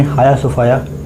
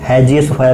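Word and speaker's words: Hagia Sophia: किस देश ने हाया सोफाया, इसे कुछ लोग हैजिया सोफाया भी बोलते हैं, बट इसका जो करेक्ट प्रोनाउंसिएशन है वो हाया सोफाया है, संग्रहालय को मस्जिद में बदल दिया है।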